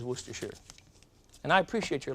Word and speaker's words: Worcestershire: of worcestershire sauce but there's no such thing it is worcestershire and i appreciate your